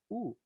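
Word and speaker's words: ου: Y el dictongo Omicron Y se pronuncia U. Y eso sí ya lo vimos. Entonces, ahora el problema es reconocerlo aquí una escritura.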